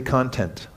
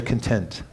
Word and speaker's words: content: So the word content and content, it's the same word. You just pronounce it differently. Say content. Now say content.